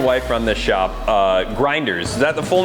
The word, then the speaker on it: Grindhrs: you said it correctly so grinders but the spelling is different so not necessarily the pronunciation grinders feels as if